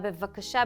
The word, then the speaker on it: בבקשה: Just one suggestion with a milah bevakasha, because it's hard to pronounce two bet one after another when one is with a dot and one is without, when one is be and one is ve. Just take your time pronouncing it.